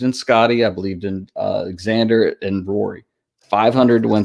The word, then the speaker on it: Xander: I mean, like if you have an X in your name, you should pronounce it.